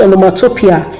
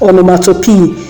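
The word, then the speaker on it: onomatopoeia: next is omnimoto p please do not pronounce it on the mutopia it is pronounced or no matter p it simply means where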